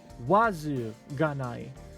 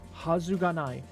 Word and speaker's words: はずがない: You're often going to see hazai written out in hiragana. And so sometimes when you see it, you might be tempted to pronounce it wazu ganai because you might be in the habit of